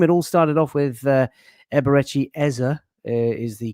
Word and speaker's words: Eberechi Eze: It all started off with Eberretti Eza is the correct pronunciation of his name being unveiled on the